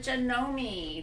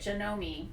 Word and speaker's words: Janome: was the user so this is the janome that's how they say it janome i'll pick that up